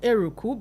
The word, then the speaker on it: Eruku: No, Eruku, because I listened to the pastor who actually spoke yesterday. And I was like, oh, that's the correct pronunciation.